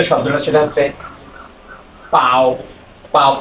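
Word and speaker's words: 包: যে শব্দটা সেটা হচ্ছে পাও পাও পাও এই টনটা হচ্ছে ফার্স্ট টন পাও পাও হ্যাঁ এই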